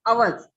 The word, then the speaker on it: hours: Silent में जाएगा, आवर्स, ठीक है।